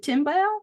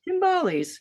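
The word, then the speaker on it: timbales: Dad played Do I pronounce it timbal? Tumbalies. Timbalies.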